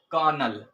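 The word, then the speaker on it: colonel: ठीक है, दूसरा हमारे पास जो वर्ड है वो क्या है, कर्नल। कर्नल इंग्लिश में पढ़ेंगे, जो इसकी प्रोनाउंसिएशन होगी इंग्लिश में और जो इसका मतलब है हिंदी में वो है कर्नल।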